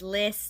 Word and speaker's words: LYS: on instagram about uh it's list not lys so list beauty um